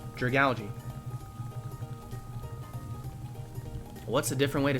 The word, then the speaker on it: Dragalge: Dragalge? I mean, how do you say that? What is another way to say it? It's like algae and like dragon. It's like Dragalge.